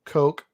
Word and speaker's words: Koch: but so coke yeah a lot of people pronounce my name coke and we have family in north carolina that pronounce it that way so yeah well we'll